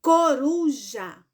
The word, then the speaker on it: coruja: Então fecha o olho pronuncia a palavra coruja e escute a sua própria voz e a coruja Qual foi o pedacinho a sorte e foi ROM muito bem então a palavra coruja ela é paroxítona por quê Porque a sílaba mais forte dela é a penúltima Certo meus anjos pronto